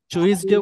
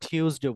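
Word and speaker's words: Tuesday: টুসডে টুইসডেড হ্যাঁ শুনেন এটা আমরা টুইসডেও বলতে পারি অথবা টিউসডেও বলতে পারি টিউসডে নট টুইস টিউসডে টিউসডেস এন্ড এই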